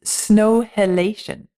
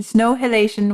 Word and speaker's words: Snow Halation: And the piece is Snow Halation. Snow Halation? Like inhalation, exhalation, snow halation.